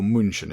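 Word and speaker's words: München: So, we go to Augsburg and then over to Munich or Munchin as it says on there because that's how it's said in actual the German language.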